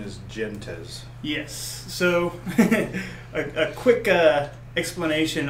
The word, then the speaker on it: Gentes: And so the word Gentes in Latin is pronounced Gentes. I know that Uli, the creator, is German, and he pronounces it Gentes, so I guess you can pronounce it however you like, as long as it's one of those couple, right?